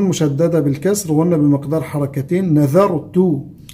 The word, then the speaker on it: نذرت: بالكسر وقلنا بمقدار حركتين، نذرت النون والذال من حروف الترقيق، فنقول نذا وليس نظا، ولا نقول نذرت يعني نطقها زاي، لا، هذه ذال.